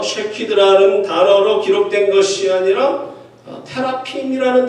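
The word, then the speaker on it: תְּרָפִים: 단어로 기록된 것이 아니라 테라핌이라는 단어로 사용되어 있습니다. 이것은 한국식 발음으로 읽으면 드라빔입니다.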